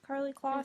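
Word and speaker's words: Karlie Kloss: Carly Kloss?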